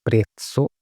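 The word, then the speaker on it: prezzo: इसके बाद में प्राइस, तो प्राइस को हम बोलेंगे प्रेत्सो, प्रे आधा तय, सो प्रेप्सो ये हो गया प्राइस, कीमत।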